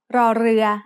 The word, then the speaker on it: รอเรือ: The sound of รอเรือ as an initial consonant is r, like the double R in burrito when spoken by a native Spanish speaker. In other words, this is an R sound with a trill.